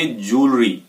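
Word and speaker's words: jewellery: सो इसको प्रोनाउंस करेंगे ज्वेलरी।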